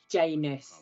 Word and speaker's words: Janus: It starts off that they go into the planet Janus. Rhymes with anus.